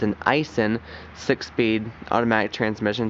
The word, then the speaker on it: Aisin: It's an Aisin 6-speed automatic transmission.